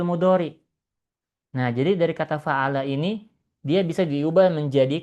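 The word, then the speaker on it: فَعَلَ: Jangan dibaca fu'ila. Tapi kita bacanya fa'ala.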